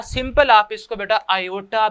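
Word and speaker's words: iota: Simple आप इसको बेटा आयोटा भी लिख सकते हैं। जो आई बेटा है इस आई को आप आयोटा भी कहते हैं बेटा, इसको प्रोनाउंस करें तो ये बेटा बनता है आयोटा, ठीक है, आयोटा।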